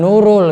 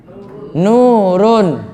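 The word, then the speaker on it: نورٌ: Bukan nurul, Anda salah membacanya. Nurun.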